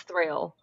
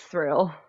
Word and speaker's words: Thrayle: So, we're being goofy and it's thrill. It is thrill.